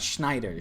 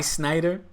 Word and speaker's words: Sneijder: saying Schneider in English Wesley Sneijder is not German it's pronounced Schneider not Schneider we're not Germans okay we're Dutch so goes from Schneider